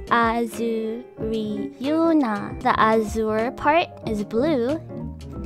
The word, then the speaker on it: AzuRyuna: My name is AzuRyuna. It's pronounced AzuRyuna.